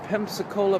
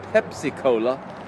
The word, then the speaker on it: Pensacola: everybody we are in pensacola pensacola florida oops apollo it's not called Pepsi Cola I'm trying to learn